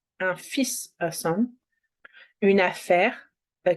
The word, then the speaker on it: fils: Un fils, a son. We don't pronounce the L. Un fils, a son.